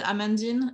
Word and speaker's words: Amandine: pronounce my name it's it starts exactly like amanda and it's finnish like marilyn so it's amanda i